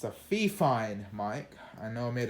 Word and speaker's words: Fifine: I know I made a short a couple weeks ago about this mic, and I said fine, and I don't want to talk about it. It's Fifine, as I've been told.